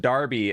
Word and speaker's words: Derby: I can read yeah in England it's pronounced Darby as in the football club oh interesting okay well